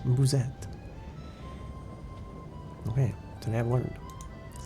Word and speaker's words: musette: Musette. Pronounced Musette. The U is similar to the U in moon, and the E is a very light, almost silent. Okay, well, Vols Musette.